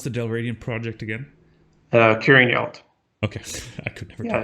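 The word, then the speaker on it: Curraghinalt: How do you pronounce the Dalradian project again? Curing Yelt.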